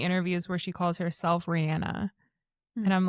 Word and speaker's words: Rihanna: Except, okay, Rihanna calls herself Rihanna.